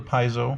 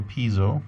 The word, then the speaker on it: piezo: It comes with a piezo or piezo, depending on how you pronounce it, that goes under the bridge.